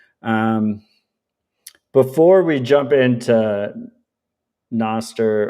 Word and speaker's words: Nostr: Um, before we jump into Noster or however people want to pronounce it. I think it's pronounced Noster.